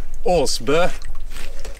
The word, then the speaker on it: Aasbo: All right, so we are in Sweden with our good friend Frederick Aasbo, which is actually pronounced Aasbo. Guys, so we've been butchering it this whole time.